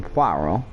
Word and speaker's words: Poirot: That is how you pronounce his name, Poirot. It is French.